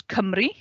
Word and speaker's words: Cymru: Wales, we pronounce Cymru.